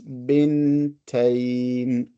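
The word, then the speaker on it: بنتين: You have to make clear where one letter ends and where the other starts. Bintain. So bint, ba with a kasra, bin with a sukun, ta, another sukun, bintain, and then we stop.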